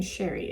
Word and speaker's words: Cherri: The next polish is called, I'm saying Cherri. It's spelled like cherry, but with an I at the end, but I'm saying Cherri, so I hope that's correct.